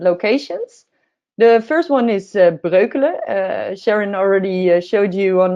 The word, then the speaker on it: Breukelen: The first one is Breukelen. Sharon already showed you on the map where that is. And if you're curious about how to pronounce it, you can also say Brooklyn.